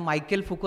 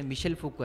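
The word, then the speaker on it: Michel Foucault: वर त्यांनी टाकलं त्या त्यांनी त्याला मायकेल फुको असं म्हटलं त्याच्यामध्ये ते त्याचं उच्चारण जे मिशेल फुको आहे दहावीचा आता शाळेचं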